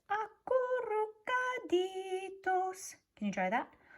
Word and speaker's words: acurrucaditos: It says acurrucaditos. Can you try that? Acurrucaditos. If you can roll your R's like Senora Gonzalez does, then give it a try.